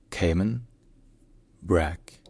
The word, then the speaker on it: Cayman Brac: the national language of the Cayman Islands is pronounced Cayman bra Cayman Brack Cayman Brack Cayman bra all right if you